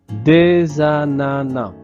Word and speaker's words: ananas: Donc ici, il y a une liaison entre le S et le A. Donc, on crée la voyelle euh orale za des ananas sans prononcer le s final. Ne dites pas des ananas, sinon des ananas. Donc je répète, ce sont des ananas.